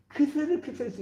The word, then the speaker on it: 크세르크세스: 근데 이거 우리 성경에서는 아하수에로라고 나오는데 그 뭐야 아하수에로란 말은 히브리식 히브리어 발음이에요. 아하수에로. 근데 우리가 세계사 책 배울 때 크세르크세스 있잖아요.